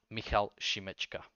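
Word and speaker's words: Michal Šimečka: Slovakia uh the leader of the party is Mikhail shimechka I cannot translate his name so it's Michal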